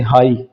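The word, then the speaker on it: high: इसी तरह जी एच, जी एच इकट्ठे होने पर जी के बाद आपको कहीं भी किसी वर्ड में एच लगा मिले तो ये दोनों साइलेंट हो जाते हैं, इनकी कोई आवाज नहीं आती, जैसे हाई, एच आई जी एच, हाई।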